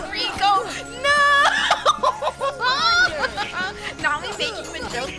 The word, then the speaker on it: Riku: Riku? No, it's Rico. Oh my god, it's pronounced Rico!